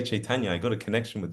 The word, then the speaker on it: Caitanya: nine book set called Caitana can you say chaitana and then they say